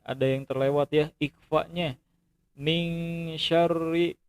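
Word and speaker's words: مِن شَرِّ: Min syarril. Nah, ada di antara adik-adik itu yang bacanya itu min syari, seharusnya itu dengung. Min syarril ya, min syarril kayak gitu ya.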